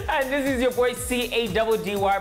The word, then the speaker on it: Caddy: And this is your boy C-A-D-D-Y, pronounced Caddy, the freshest TV host in forever.